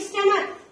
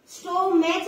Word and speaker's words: stomach: यस I have a बिग स्टमक। देखिए बेटा, STOMACH, स्टो मैच नहीं है ये, थोड़ी सी इसकी प्रोनाउंसिएशन अच्छे से कर लेंगे।